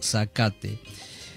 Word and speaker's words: Zacate: fe de Costa Zacate, así creo que se pronuncia, ¿no? Zacate.